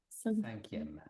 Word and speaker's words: cinquième: Cinquième. Donc, c'est comme ça. Cinquième. Comme Saint.